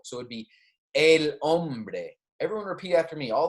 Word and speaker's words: hombre: it would be el hombre everyone repeat after me all the spanish i'm saying make sure you try and repeat after me a lombre the man remember that h is silent la mujer remember that